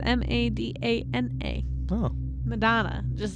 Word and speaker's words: Madana: God not Madonna Like not it's not spelled like Madonna like madona maybe no it's m a d a n a oh Madonna just not